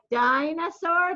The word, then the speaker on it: dinosaur: us think of what dinosaur does dinosaurs start with din but it's pronounced differently right sign rather than den so it definitely isn't